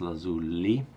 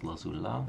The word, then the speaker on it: Lazuli: This is Lazuli, not Lazula.